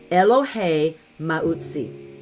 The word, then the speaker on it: Elohay Mauzi: who is my strength eloh Mai this that's that's the the Hebrew pronunciation for it um but it's what